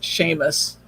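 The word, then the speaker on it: Seamus: it's spelled differently but james in scottish is sheamus okay so you know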